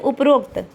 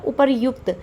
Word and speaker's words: उपर्युक्त: ये देखिए लिखा जाता है उपर्युक्त। उपर्युक्त जो शब्द है वह शुद्ध, और हम लोग क्या बोल देते हैं उपरोक्त, बोलते हैं ना, मोस्टली लोग बोल देते हैं उपरोक्त। तो शुद्ध क्या है हमारा उपर्युक्त, ठीक है, बोलते हैं उपरोक्त।